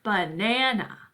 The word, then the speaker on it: banana: So for example, in the word banana, we accent the middle syllable there. Banana, banana. We don't go banana, right? That doesn't sound normal. It's not how we say the word.